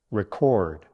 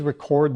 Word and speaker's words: record: Please record the minutes of the meeting. Your turn. You can really hear that difference now, right? Record, a noun. Record, verb.